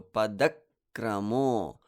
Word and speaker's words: padakramo: The da is guru number 4 because it's followed by a conjunct. So therefore, I give it the heaviness that I need by creating a pause before continuing with kra. So padakramo.